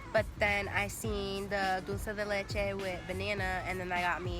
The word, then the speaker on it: dulce de leche: that I wanted was strawberry, banana, and Nutella, but then I seen the dulce de leche with banana, and then that got me, so then we had that, and that was pretty good.